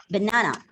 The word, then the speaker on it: banana: For example, they gave us the word banana, right? And you know, the second syllable is stressed in banana, right?